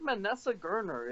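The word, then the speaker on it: Manasseh Garner: I think it's Manessa Gerner is how you pronounce his name.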